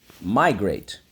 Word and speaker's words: migrate: why you got it because in this case the silent e makes the a say a the i can say